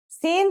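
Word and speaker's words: سين: Scene sounds just like the English s.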